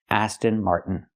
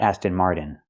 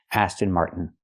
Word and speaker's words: Aston Martin: We can take the T and make it a stop T.